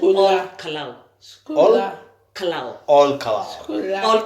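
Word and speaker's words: Ol Kalou: county number 018, Nyandarua County, a place called All Kalau. All Kalau. All Kalau. All Kalau. Yes. All Kalau. Am I pronouncing it well? No, it's okay. Yes. You did well. Yes, All Kalau.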